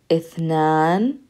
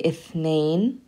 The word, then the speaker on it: اثنان: Ithnan. And some people say ithnain.